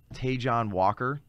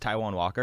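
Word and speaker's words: Taijuan Walker: consistent just got moved over to the mets taejon walker uh hey it's pronounced taiwan walker taiwan yeah so he actually had a stint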